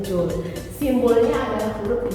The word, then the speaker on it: joule: Joule tulisannya joule gitu, tapi bacanya joule.